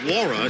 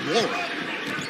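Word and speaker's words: Nwora: Long rebound to Wara. So the N is silent.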